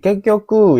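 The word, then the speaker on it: 結局: Kekyoku ya. Yang benar di soal ini itu nomor dua minasani bangs ini bacanya kekyoku kekyoku.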